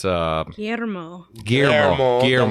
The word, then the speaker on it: Guillermo: It's Guillermo Del Toro.